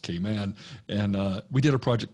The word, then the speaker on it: Cayman: As a Southerner, I call it Cayman, but it's really pronounced Cayman.